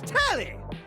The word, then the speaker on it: Telly: The name's Telly. Rhymes with Nelly.